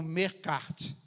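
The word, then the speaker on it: Melqart: é que é que a pronúncia é meio perdida mas é algo como mercart essa moeda Fenícia passou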